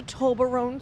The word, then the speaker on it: Toblerone: Toblerone? No, it's Toblerone. I don't know how to pronounce it.